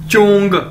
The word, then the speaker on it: zhong: ये देखें, next word है हमारे पास ZHONG, चोंग, चोंग, चोंग, कैसे बोलेंगे इसे, जैसे चोंग, चोंग, ZH यानी चे, चाइनीज में ZH को चे के तौर पर प्रोनाउंस करते हैं, यानी चोंग, चोंग इसका मतलब है सेंटर, सेंटर।